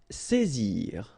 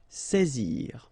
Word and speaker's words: saisir: Saisir. Alright, when you combine A and I, you get the sound E, saisir.